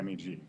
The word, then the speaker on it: MEG: a background test so if you came up in the EEG world you are used to pronouncing the initials so you automatically say Meg so it's awkward to say in a talk EEG and Meg so you just say Meg so but often people